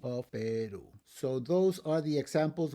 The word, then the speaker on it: Perú: And then, where I originally come from, Perú. It's not Perú, it's Perú. So, you have to put an accent on that last syllable, on that u of Perú.